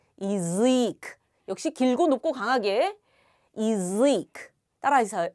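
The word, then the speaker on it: язык: 있습니다 의에 있습니다이 경우에 야는 어떻게 읽는다 예 이로 읽는다 그래서 야즈 아니라 이즈 역시 길고 높고 강하게이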